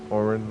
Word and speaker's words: Orin: orin like like uh if you imagine the word or o r and then or re n or just in or in that's actually the proper name proper way to say my name but uh you know